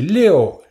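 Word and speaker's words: 六: Un chiffre qui est bon, c'est Léo. Lui, il est vraiment top, c'est le meilleur. Pourquoi? Parce qu'en fait, il se prononce presque pareil que Léo, qui signifie couler.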